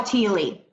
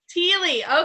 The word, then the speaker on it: Thiele: It's Thiele. Thiele. Okay, Thiele. Yes, I was like Thiel, but I was like, I thought Barbie was saying Thiele, so I just had to make sure. Thiele, brand new consultant.